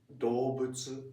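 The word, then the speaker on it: 動物: For example, 動物 is animal. Okay. Animal. 動物. 動物. It's written do but it's pronounced as do. Okay, so it's do, not do.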